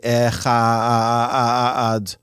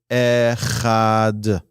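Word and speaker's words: אחד: One should be cautious not to distort the word echad. Sometimes people, in their intention to pronounce it properly, say the wrong word. They'll say echad, or they'll say echad. Be careful to just say echad.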